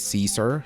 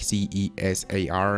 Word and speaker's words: Cesar: name age and height well my name is Cesar like CES AR and instead of Kyle sorry no just like